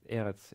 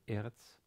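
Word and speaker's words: ארץ: the case here um eretz is uh has stress on the first syllable eretz and again starts with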